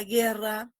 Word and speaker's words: guerra: Pero en el caso de la palabra guerra, ¿hay un diptongo? Guerra. ¿Hay diptongo? No, respóndanme en el chat. La respuesta es no. ¿Por qué? Porque esa U en guerra no suena. No suena, no la produzco, ¿no?